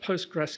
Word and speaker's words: Postgres: Um, it's pronounced Postgress SQL which I find, but you're allowed to call it Postgress um because of history and it derives from going back to the 80s.